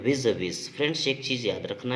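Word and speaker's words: vis-à-vis: ठीक है, इसको बोलते हैं विज विज। फ्रेंड्स, एक चीज़ याद रखना है आप, प्रोनाउंसिएशन जो होता है 3 प्रकार से होता है।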